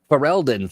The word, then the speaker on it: Ferelden: We've got Dragon Age Game Master's Kit, the Dragon Age RPG Quick Start, the Dragon Age Blood in, is it pronounced Ferelden? Ferelden.